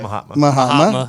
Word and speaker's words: Mahatma: Mahatma. That's how you pronounce it.